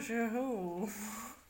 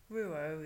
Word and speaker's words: Rouault: I listened to it on YouTube, and you pronounce the name Jean Rouault, or Rouault is how I've always learnt it, but obviously that was the incorrect pronunciation.